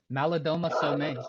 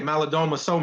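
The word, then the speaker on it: Malidoma Somé: I mean, is it Maladome Some? Is that how you say it? Malidoma Some, yeah. Okay, Malidoma Some.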